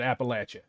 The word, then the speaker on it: Appalachia: Is it Appalachia or is it Appalachia? Appalachia. Oh, so I pronounced it like a Yankee, I guess.